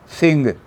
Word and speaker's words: सिंह: तो सिंह का जो ह था उसको अंग्रेजों ने हा बना दिया। एस आई एन उच्चारण सिंह ही रहा।